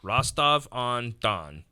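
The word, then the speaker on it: Rostov-on-Don: thought to be near rastavandan Russia 100 pronounced correctly I have it spelled phonetically rostov on Don yeah Rastafari yeah um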